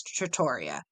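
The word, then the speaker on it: trattoria: whatever you feel like proper pronunciation is Tratoria but here's the thing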